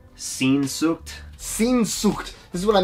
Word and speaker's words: Sehnsucht: I want to say it's pronounced... Sehnsucht.